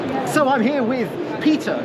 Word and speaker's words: Petter: So I'm here with Peter. Is it Peter or Peter? It's Petter. Petter. So with the Swedish pronunciation.